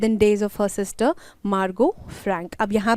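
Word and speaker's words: Margot: उनका नाम क्या है मार्गो फ्रैंक अब टी यहां पे साइलेंट है आप बोल के भी बोलना चाहते हो ताकि आपको याद रहे ढंग से तो आप मार्गोट भी बोल सकते हो ऑलराइट ठीक है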